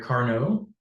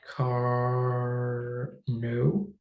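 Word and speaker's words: Carnot: uh the French engineer Carno sounds like Carno because he's French and French has a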